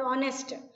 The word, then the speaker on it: honest: Same way, honesty or honest. The H is silent in honest.